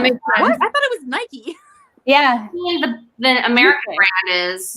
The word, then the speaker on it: Nike: that movie with heath ledger apparently this is pronounced nikkei yes really yeah i mean i thought it was nike yeah the american brand is nike americans okay